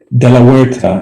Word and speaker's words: de la Huerta: pronounce your last name de la huerta in spanish the h is silent so i'm going to state